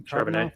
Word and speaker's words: Charbonnet: If you look at, Zach Charbonnet, is that how I pronounce his name? Charbonnet.